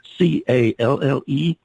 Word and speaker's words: Calle Ameln: If you happen to miss that, folks, it's CalleAmeln. It's pronounced Calle Ameln.